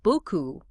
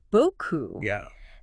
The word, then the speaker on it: beaucoup: And there's often a tendency to pronounce that final P in words like beaucoup, which should be silent in French.